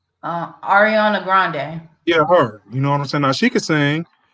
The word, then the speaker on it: Ariana Grande: period, and the best out there right now, I would have to say is our how you pronounce her name? Artie Grandy. What's that girl's name? Ariana Grande.